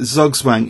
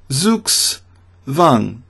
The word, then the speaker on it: Zugzwang: Another German term, you could say it Zugzwang if you want to follow the letters.